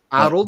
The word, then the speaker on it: Harold: never corrected me, but the way I've been pronouncing it is kind of like how a cochnney guy would pronounce the name Harold. Arold. There's no H at the start.